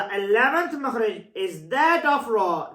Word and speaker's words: ر: The 11th Makharij is that of Ra. The place of the Ra is the same as letters Noon and Lam. Only touching degree of is laser while pronouncing.